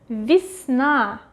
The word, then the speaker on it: весна: Весна, весна, весна. Again, the stress goes to a. Ye we read pronounce as и.